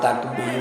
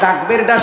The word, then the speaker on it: তাকবীর: লিল্লাহি তাকবর। তাকবরটা শিখিয়েছে কে? তাকবর তাকবর না শেষে আলিফ টান আছে তাকবর দিয়ে মফাস কম